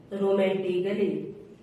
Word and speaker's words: romantically: रोमांटिकली, ROMANTICALLY, रोमांटिकली। अब B letter कब silent होगा?